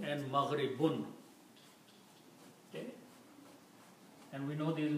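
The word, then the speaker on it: مغرب: So the word is mashriqun and maghribun. Okay? And we know these words, mashriqun means east, and maghribun means west. Maghribun, the original words are mashriqun and maghribun. If we stop, we pronounce them mashriq, maghrib.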